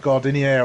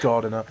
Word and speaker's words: Gardiner: No, it's spelt weirdly. Okay, it really threw me off. I looked at it and I thought it was going to be like Gardinier or something, but no, it's just Gardiner.